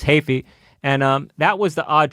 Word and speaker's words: Heafy: The weird choice back then was Matt Hafey from Trivium. It's Hafey, not Heafy, people. Say it right.